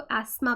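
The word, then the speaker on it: asthma: तो ये कंडीशन, किसी को एस्मा पहले ही है, देखिए इसको एस्मा पढ़ते हैं, TH इज़ साइलेंट, ओके?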